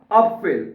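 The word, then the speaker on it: Apfel: अप फिल ठीक है अफल नहीं कहना क्योंकि ए को हम आ पढ़ेंगे तो बनेगा अप फिल अफिल का मतलब होता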